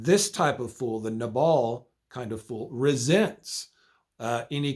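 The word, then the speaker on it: נָבָל: Okay, the next kind of fool is in Hebrew pronounced nabal.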